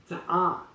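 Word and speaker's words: צעה: Rather, the Bible uses in Isaiah 63:1 the Hebrew word for stooping down or bending, za'ah, with an H sound at the end.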